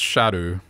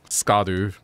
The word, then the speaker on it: Scadu: anywhere too far away so apparently that's pronounced Shadow not SC scadu it's like old way of pronouncing things shadu I don't know